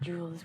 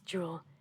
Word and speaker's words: Jewel: I've had, like, a romantic interest called me Jules, and like, no, that's not, I'm not Jules one thing, it's Jewel. And I'm talking about my, like, kind of name.